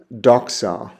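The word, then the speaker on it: δόξα: Fox and the Greek word I have there is doca.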